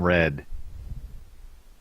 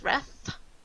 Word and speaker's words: Rhedd: Hi, I'm Red. Is that R-E-D or R-H-E-D-D? No, RHEDD. It's yeah. It's a very common halfling name. Well, yes. Although I feel like they pronounce it in the sound as Reth.